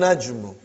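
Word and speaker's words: النجم: next one brother and najmu he did not pronounce lam because noon is a sun letter next one brothers and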